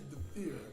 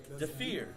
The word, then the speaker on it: Dhafir: It is Dafir. Dafir. Yes, that's DHAFIR. But you know, a lot of individuals couldn't actually pronounce it correctly.